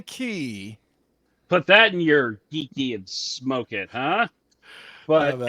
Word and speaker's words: Geekey: two separate words but actually on the packaging you can tell it's actually just geeky so there is no separate a separation in between the geek and the key so when I say it like that I am actually saying it wrong this is the geeky